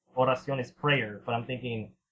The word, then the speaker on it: Oración: There was the group Oración Seis. No one has been able to pronounce Oración correctly. Everyone's... Yeah, I always say like Oración? Everyone says Oración, but I'm like, that's not right. It's Oración.